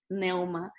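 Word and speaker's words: πνεῦμα: Neuma. Por ejemplo, ahí la neumatología es el estudio del Espíritu Santo. Se escribe Pneuma. P primero, pero no se pronuncia la P en esta palabra griega, neuma.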